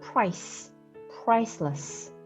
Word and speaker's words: priceless: 여기 나와 있는 아이는 슈아라는 발음 기호예요. 이 발음 기호의 이름이 슈아인데 이 슈아는 강세를 받는 모음과 비교를 했을 때 거의 소리가 나지 않고 굉장히 빨리 발음하는 소리예요. 그래서 사실 이 슈아는 거의 그냥 발음을 안 한다고 생각을 하셔도 돼요. 즉 오히려 이렇게 좀 세게 발음을 하시면 원어민들이 못 알아들을 수도 있고 좀 이상하게 들릴 수도 있고 그래서 priceless 이렇게